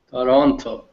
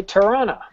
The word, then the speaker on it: Toronto: Toronto Toronto okay K Toronto all right the proper way is to say Toronto most local say torona Toronto torona Toronto t